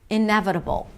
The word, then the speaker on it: inevitable: Primary stress is on 'ne' 'ne', iNEvitable. Inevitable. We begin with an 'i' sound: 'i-neh-vuh-', it's a V sound and a schwa. 'i-neh-vuh-duh, that's a flap T, so it sounds like a D. 'i-neh-vuh-duh-bol: it's a B sound, a schwa, and a dark L.